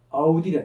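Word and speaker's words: audire: 레게레 같으면 이게 자음 변화고 나중에 하다 보면 아우디레 듣다. 아우디레라는 동사는 이래로 끝나잖아요. 이래는 반드시 장모입니다. 발음도 길게 해줘야 돼.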